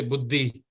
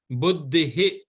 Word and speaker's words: बुद्धिः: Some people say buddhi, buddhi. No, it is not buddhi. Buddhihi.